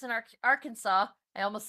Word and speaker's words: Arkansas: Steve Vendetta says, "Fish, why is the last S in Arkansas? I almost said Arkansas. Why is the last S in Arkansas silent?"